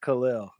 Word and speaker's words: Khalil: It's just Khalil. Khalil? Khalil, Khalil, yeah, like like Lil, like yeah, Lil, Khalil.